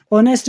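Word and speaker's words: honest: जैसे कि ऑनेस्ट है, ऑनेस्ट में आपको क्या लग रहा है, ऑनेस्ट ऐसे आप लिखोगे ना, क्योंकि एच तो आपका साइलेंट होता है।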